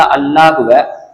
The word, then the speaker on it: அல்லாஹ்: மாதிரிதான் அல்லாஹ்வுடைய லாமையும் உச்சரிக்கிறோம் அல்லாஹ்வுடைய லாமுக்கும் அதேதான் ஒரு ஜபரோ பேசோ இருந்துச்சுன்னு சொன்னா அந்த அல்லாஹ்வை அல்லாஹ் அப்படின்னு சொல்லி வாய் நிரம்ப சொல்லி பழகணும் அதாவது வல்லினமா சொல்லி பழகணும் அல்லாஹ் அப்படின்னு சொல்லி பழகணும் அப்படி இல்ல அந்த அல்லாஹ்வுடைய லாமுக்கு